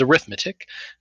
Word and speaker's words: arithmetic: previous section again it looks the same as arithmetic but in this context it's pronounced arithmetic and so arithmetic sequences have a